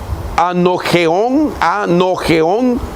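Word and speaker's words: ἀνώγεον: Es una palabra griega que se pronuncia de dos maneras. Una de ellas es anogeón o anagaión.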